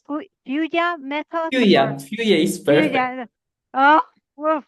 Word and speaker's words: FÜYA: way, to be honest, what how do I pronounce FÜYA method or FÜYA is perfect.